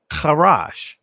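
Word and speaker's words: חרש: Here's another word, charash. Let me say it again, charash. I'm saying it from the ancient Hebrew pronunciation.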